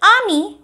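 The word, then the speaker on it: amie: Ninth and tenth pronunciation is similar. So, ninth, ami, which means your male friend. If you have a friend who is male, then ami. Then 10th, ami, which means your female friend.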